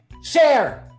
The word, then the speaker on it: Cher: name rhymes with her her name rhymes with hair she's an icon but yeah how you set me up like this share share share it's sure